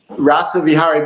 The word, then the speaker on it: RASAVIHARII: Now, I believe your name is pronounced Dr. RASAVIHARII. Is that it? RASAVIHARII? So this in RASAVIHARII. RASAVIHARII, but you can just call me Rasa for short.